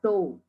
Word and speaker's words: tau: For example, if x equal to contains three elements A, B, C, then consider tau or T. It is pronounced as tau or T.